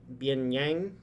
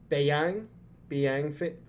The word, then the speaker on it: Beiyang: bring the Chinese fleet, the Bianyang fleet, is that how you say it? Hold on, let me look at how to say that real quick. Yeah, the Beiyang fleet.